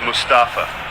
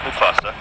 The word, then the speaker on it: Mustafa: slow myself down here it's mustafa not mufasa why you having to